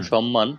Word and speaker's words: সম্মান: যদি সাতটি বর্ণের সাথে থাকে তাহলে ম এর উচ্চারণ হবে। যেমন সম্মান, যুগ্ম, উন্মাদ।